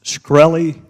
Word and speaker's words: Shkreli: Is it pronounced Shkreli?